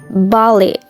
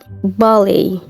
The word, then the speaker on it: ballet: Nah sekarang ballet itu dibacanya ballet, ballet. Oke, T-nya silent itu karena bahasa Perancis.